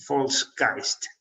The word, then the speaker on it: Volksgeist: It's German. You should pronounce that in that way. The Volksgeist.